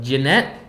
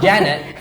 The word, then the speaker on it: Jeanette: Jeanette. Jeanette. Not Janet. Jeanette.